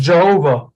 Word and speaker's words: Jehovah: have this t-shaped vowel that is why it's pronounced Jehovah in English because it's got those are the